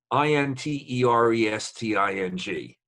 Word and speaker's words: interesting: people all right what about um what about i-n-t-e-r-e-s-t-i-n-g interesting or interesting interesting yeah okay but diaper